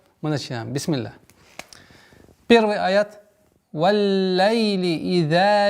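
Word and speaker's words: وَاللَّيْلِ: «Валлайли иза ягша». «Валлайли». Удваиваем лям с звука фатхи у буквы вау. Вал, нет. Вал. Вау, звук мягкий.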